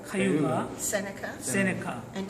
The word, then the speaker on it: Cayuga: Could you pronounce? Mohawk, Mohawk, Oneida, Onondaga, Onondaga, Cayuga, Cayuga, Seneca, Seneca, and Tuscarora.